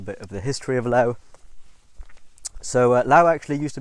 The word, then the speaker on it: Laos: So Lao was colonized by France in 1893. They kind of named the three kingdoms and grouped it under one. Now the S is not is not pronounced today. It's silent.